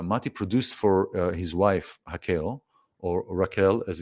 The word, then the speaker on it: Raquel: it's named simply after your wife, Raquel, or Raquel as it's spelled in English.